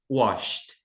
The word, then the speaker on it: washed: Mais uma vez a gente não pronuncia esse e aqui, né? Então, washed.